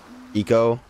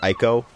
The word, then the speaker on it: Ico: And it kind of reminds me of Eco. Or some pronounce it Ico, such as I, many, many years ago, when I was a wee lad.